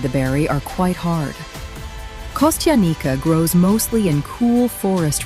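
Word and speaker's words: костяника: This unusual berry is called kostyanika, pronounced kostyanika.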